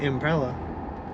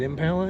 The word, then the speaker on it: Impala: driving a 1996 Chevrolet impella SS how do you say it Impala Impala I think they're both correct our return signal indicator